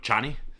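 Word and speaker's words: Chani: lot of Cheney um I'm never gonna be able to stop saying Cheney because that's pretty sure that's how it's pronounced in the audiobooks um they're going with Johnny um but but nevertheless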